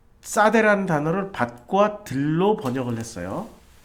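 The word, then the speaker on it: שדה: 근데 이 들이란 단어가 싸대예요. 싸대. 자, 들에서도 복을 받는다. 싸대기 때린다는 싸대가 아니고 발음이 싸대라는 거예요.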